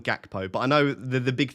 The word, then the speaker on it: Gakpo: Do you mean Hakpo? I'm not going to try and do the Dutch pronunciation. I'm going to call him Gakpo.